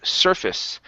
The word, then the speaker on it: surface: the word surface now on the end of the word even though it looks like the word face okay we don't pronounce a long a there it's actually a short I okay like fist okay so this is 70%